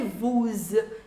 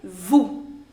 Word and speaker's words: vous: And the last letter, the last consonant I should say, in French is generally not pronounced. So you don't say vous, you say vous.